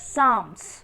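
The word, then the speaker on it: Psalms: कौन सी है साम पी एस ए एल एम एस साम्स यहां पे पी साइलेंट हो जाएगा students then we pronounce it like साम्स okay students hair our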